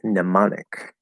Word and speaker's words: mnemonic: Okay, so that's an example of a mnemonic. Mnemonic. Has a silent M at the end because, it's English. It comes from Greek. That's the main reason, but we don't pronounce it in English.